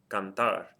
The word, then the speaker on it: cantar: Cantar. Hopefully you're hearing that the stress of the word is on the last syllable, and it ends in something other than a vowel N or S.